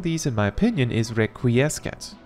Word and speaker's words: Requiescat: The hardest one to pronounce among these, in my opinion, is Requiescat. I could have sworn I learned somewhere that the C was silent. I guess not.